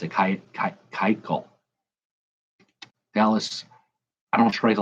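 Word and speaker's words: Keuchel: kykel i think jimmy told me how to pronounce it kite call dallas i don't trade a lot of batters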